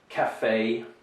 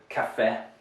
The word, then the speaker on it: café: In Russian, when you're pronouncing our words in English, you tend to say café or résumé, right? You make it short. That is incorrect pronunciation in English. So you have to remember here to have a long A, right? A long A sound rather than the clip, the short eh that you would have in Russian.